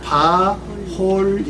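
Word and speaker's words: בָּחֳלִי: 요거는 바홀리 이렇게 발음합니다. 바홀리. 네. 요 카메치 요것은 이제 오로 발음을 많이 한다고 그랬죠?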